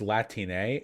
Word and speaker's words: Latine: It's pronounced Latine.